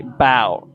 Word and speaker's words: about: say about but instead the connected speech sound for this can be bow bow bow okay the a is actually removed and we pronounce it like bow bow great job for example